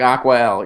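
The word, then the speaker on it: Acqua: ballots spell it Jeff I can help you AC qu a al yeah like aqua yeah yeah you got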